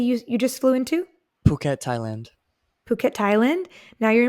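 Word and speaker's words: Phuket: was the city you you just flew into puket Thailand puket Thailand now you're in puket Thailand how do you spell that p h u k t okay that's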